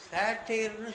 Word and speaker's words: satyr: சேட்டையர்னு சொல்கிறாங்க. அதுக்காக அந்த உச்சரிப்பில் என்ன பண்ணுவான், SATYR, நான் முன்னாடி சொன்னது எஸ்மணி ராமனுக்கும் பத்மநாபனும் கொண்ட அறிஞர்களுக்கு இந்த விஷயங்கள்லாம் ரொம்ப ஆர்வமாக இருக்கவங்களுக்காக நான் உங்களுக்கு மெனக்கட்டி சொல்கிறேன்.